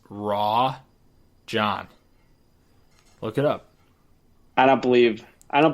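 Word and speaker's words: Rajon: But it's Rajan. It's Rajan. Wait a second. Look it up. Okay. Well, then the whole world has been saying that wrong for the last 10 years. His pronunciation is Raw John.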